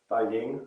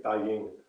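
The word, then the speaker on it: 大迎: I'm trying to remember how it's said, but Da Ying. I think it's Da Ying.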